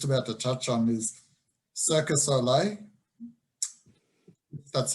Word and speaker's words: Cirque du Soleil: And another example of it that I was just about to touch on is Cirque du Soleil. That's how you pronounce it.